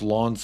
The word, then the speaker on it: Lens: I think it's pronounced Lawns for Lens. Lawns.